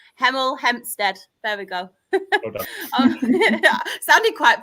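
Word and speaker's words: Hemel Hempstead: Third, we have This will be funny because I can never pronounce my H's. Heml Hempstead. There we go. Sounded quite posh then, didn't I? It's usually emlstead.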